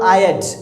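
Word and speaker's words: I'd: आई हैड का German हम लोग जो यूज़ करते हैं वो होता है आयड, इसका जो प्रोनाउंसिएशन है वो आयड, आयड।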